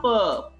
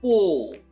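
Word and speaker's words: peau: Right answer is po. Not per, po. Like bo, it's po.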